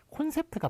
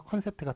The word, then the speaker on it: 콘셉트: 자, 그 다음에 요거는 시력검사 발음이에요. 어디로 뚫려 있나요? 예, 여기로 뚫려 있습니다라고 얘기하는 그런 시력검사 C를 거꾸로 한 요 발음인데요. 요거는 O로 적기로 했습니다. 예, 그러니까 콘셉트가 맞는 거예요. 컨셉트가 틀리고 콘셉트가 맞다.